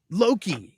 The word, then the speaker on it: Loki: It starts with an owl and rhymes with pokey. Oh, Loki.